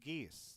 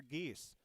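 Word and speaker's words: Giese: and i'm going to give it to tanner geese that's uh g-i-e-s-e but you can spell it however you want just to pronounce it uh but tanner geese uh for crookston is our pirate rbjs pirate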